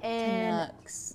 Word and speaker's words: Canucks: And we're going to do Canucks. Inset. Rhymes with ducks.